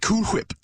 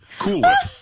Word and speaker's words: Cool Whip: Whip yeah cool whip Cool Whip Cool Whip Cool Whip Cool Whip you're saying that weird why are you putting so much emphasis on the H what are you talking